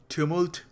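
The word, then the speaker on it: tumult: वैसे इसकी एक्यूरेट जो प्रोनाउंसिएशन है वो है ट्यूमुल्ट, बट थोड़ा पंजाबी आदमी हो, पंजाबी एक्सेंट है, थोड़ा ट्यूमुल्ट कह रहा हूँ तो समझ लीजिएगा उसको.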